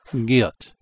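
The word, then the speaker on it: 기역: This character is called the Giyot, G-I-Y-E-O-K, even though this is pronounced like a T, the Giyot, pronounced Giyot.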